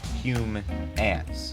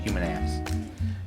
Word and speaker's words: Humants: Humans, pronounced human ants. Like human ants.